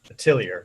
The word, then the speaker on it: Atelier: Atelier is the pronunciation.